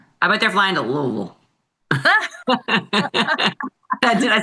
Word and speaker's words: Louisville: I just It's just like tone down the I tone down the I Louisville. You don't say the I.